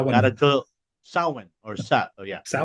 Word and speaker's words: Samhain: Sowan or sat Oh, yeah. Sowan.